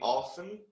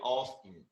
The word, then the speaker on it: often: the pronunciation of this some people pronounce the t and some people do not some people say often and some people say often so it's completely down